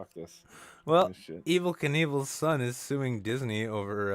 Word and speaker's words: Knievel: sue over duke kaboom do you think it was meant to be pronounced knievel it was definitely meant to be pronounced neville right or something like that um evil evil's not